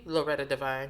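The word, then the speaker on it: Loretta Devine: black famous and on the cover was the loretta divine because you got to say it like that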